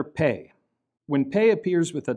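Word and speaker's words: פה: So on the right, we have the word pe, which means mouth. And notice that this is spelled pe, hey. The hey is unpronounced. It's just a vowel marker.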